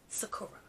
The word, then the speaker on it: sakura: well sakura you have to pronounce it properly okay sakura right but she's popping i